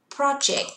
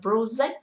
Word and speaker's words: project: Từ đầu tiên là từ project. Từ này không đọc là project vì từ này đọc là âm jack, âm e.